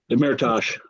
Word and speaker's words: Demirtas: But again, he's behind Demirtas. Is that how you pronounce that name, GT? Demirtas, yeah.